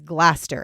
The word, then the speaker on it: Gloucester: But I looked up the pronunciation, and the UK pronunciation is definitely not how I would say it because I'm American. So the American pronunciation is Gloucester, and that's how I'm